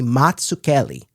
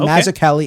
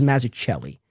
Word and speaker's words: Mazzucchelli: Now the Z's in his name are meant to be pronounced like the Z's in the word pizza. So the actual correct Italian pronunciation would be Matsucelli.